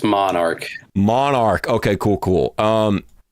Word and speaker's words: MNRK: to say this what is it yeah it's Monarch Monarch okay cool cool um dude the roster